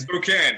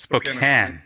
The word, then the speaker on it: Spokane: Welcome to Andrew Belisle, who is joining us from Spokane. Oh no, I'm getting it wrong again. Tell us, what's the correct pronunciation again? Spokane. It's Spokane.